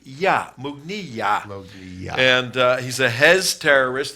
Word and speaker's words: Mughniyah: Yeah, Jihad Mughniyah. Mug, M-O-O-G. This is phonetically. Mughni, like your knee. Mughniyah.